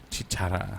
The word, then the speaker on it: Chicharra: So we have Henry and we have Morrow from how do you say the band? Chicharra. See, you were saying it right.